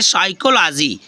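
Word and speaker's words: psychology: means होता है भजन ये तो यहां पी साइलेंट हो गया नेक्स्ट क्या है जैसे साइकोलॉजी साइकोलॉजी फ्रेंड्स है देखो पी एस वाई सी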